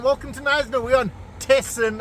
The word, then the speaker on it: Thesen: to knysna we're on tessen island they say it like that testing but what a beautiful